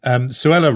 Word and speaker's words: Suella: back to Suella Braverman, Suella rhyming with Cruella.